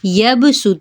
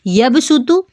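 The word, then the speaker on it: يبصط: इनको पढ़ने का तरीका यह है कि इनसे पहले जो दो है उनमें सीन पढ़ा जाएगा।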